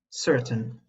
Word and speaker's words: certain: Another similar word that is pronounced the same way is certain. We shouldn't say it like this. certain, It's actually certain.